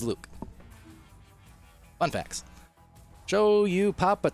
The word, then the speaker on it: 1UC: It's spelt 1UC, but if you're talking to him, he's Luke.